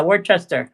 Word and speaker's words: Worcester: Oh yeah, Worcester.